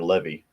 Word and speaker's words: Levi: Levi or Levy can be pronounced either way.